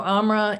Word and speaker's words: AMRA: the letters mean so amra is spelled a-m-r-a and my understanding is that it's not a combination of those four letters but it's a combination of sounds am and raw and here's what the